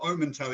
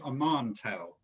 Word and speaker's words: Omantel: doing this oman omen it's not omento it's a mantel i have to get that right your country pronunciation a